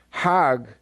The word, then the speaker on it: Hajj: around the circles now hajj is a pilgrim to mecca hag is the egyptian pronunciation hag in hebrew means